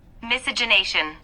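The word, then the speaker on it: miscegenation: Miss I'm going to look that up and see how to pronounce it and everything. Misogenation.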